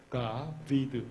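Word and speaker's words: דָּוִד: 벤 다비드 이렇게 써요. 벤 다비드. 다 같이 다비드 그래보세요. 다비드. 다비드가 히브리식의 발음이에요.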